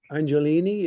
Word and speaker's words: Angelini: So the first question is for Angelini. Is that the correct pronunciation? Okay. Sure, yes, it is.